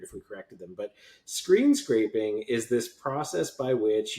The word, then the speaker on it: screen scraping: had a colleague years ago who used to mispronounce it screen scrapping. And then they said it so long that way that nobody corrected them, and it would have been weird if we corrected them. But screen scraping is this process by which you or somebody